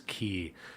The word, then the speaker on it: quay: regional pronunciation thing but I was pronouncing quay my whole life and someone said actually it's key and they tried to